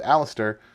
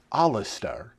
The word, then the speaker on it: Alistair: pronounced stuff uh like the main character's name is alistair uh but it was i think it was like alistar and i was like